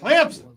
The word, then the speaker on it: Clemson: in Clemson, South Carolina. Oh, you said it right. Clemson. Clemson with a P in it.